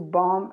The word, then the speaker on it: bomb: Then we have, this is very easy, because to bomb and bombardment. Bomb, remember, without the B, a silent letter.